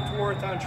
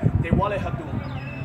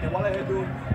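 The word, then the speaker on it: Tewaarathon: The actual pronunciation of the Tewaratan Trophy should be Dewalehadun, okay? Dewalehadun, which means basically the lacrosse stick or the stick game, okay?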